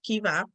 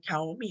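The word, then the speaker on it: Caoimhe: Like I would say something like Kaomi or something like that, but the name is actually Kiva.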